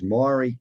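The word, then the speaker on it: Maire: And I'm not, is the company that you're speaking on behalf of, is it Mairi or Mare? I'm not sure how to pronounce it. It is Mairi, as in the Mairi tree.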